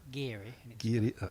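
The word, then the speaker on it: Garioch: that why they have that club pronounced gary correct that's right their that's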